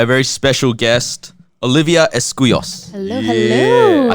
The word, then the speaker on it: Escuyos: And we're joined by a very special guest, Olivia Escuyos.